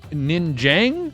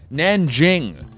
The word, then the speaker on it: Nanjing: one of the biggest stories in China in Ninjang. Ninjang. How do you say it again? Hold on. Where's I need my thing open here. Where's my thing? Uh, it's it's the province of Nanjing.